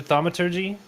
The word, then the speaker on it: Thaumaturgy: So my bonus action, I'd like to do Thaumaturgy. Isn't that how you pronounce it?